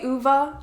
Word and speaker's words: Ove: is A Man Called Ove, or I want to say Uva. I think that's how the Swedish say it.